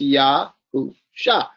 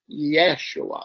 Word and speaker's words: Yahusha: So you pronounce Yahusha, and that's when how you get his name. There is no yeah like Yeshua. There's no E sound here. It's an A sound.